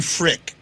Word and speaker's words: Frk: somewhere around there um martin frick i think that's how you say it frk is how his name spelled no vowels i think it's ferc martin yeah this guy